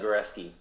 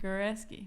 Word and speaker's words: Goresky: My name is Goresky. Oh, that's how you pronounce it. Goresky.